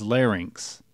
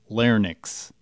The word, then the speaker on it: larynx: Note that the correct pronunciation is larynx, not larynx.